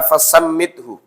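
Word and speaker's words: فَسَمِّتْهُ: Ya, fasammithu itu harokatnya di bawah tasdid, maka dibacanya kasrah. Fasammathu artinya lain. Ya.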